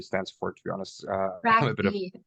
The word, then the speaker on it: TrkB: Track B is how you say it.